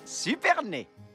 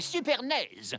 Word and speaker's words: Supernaise: Les enfants, je vous présente le gardien, Jérémiah Supernay. Ah non, c'est Supernaise. On dit naise, ça vient des pays de l'Est.